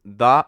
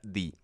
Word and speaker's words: the: sea bueno a ver se pronuncia eh da cuando la siguiente palabra empieza con un sonido em de de consonante y se pronuncia di cuando la siguiente palabra empieza con un sonido de vocal Y esto es importante